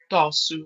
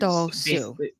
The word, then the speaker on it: Tossou: But yes, if you would like to pronounce it correctly, it's Tossou, which is Tossou.